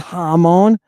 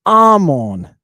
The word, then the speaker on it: Ammon: It has two muse in it. Alpha mu mu omega new. Amon. And that's how you say it. It's not Hmon. It's Armon.